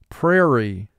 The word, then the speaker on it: prairie: And for spelling, we're going to pronounce this word pray-ree. Pray has 3 sounds. P, R, A. Re, 2 sounds. R, E. Pray, re. Mark the word. Pray, re. And in conversation, you would say prairie.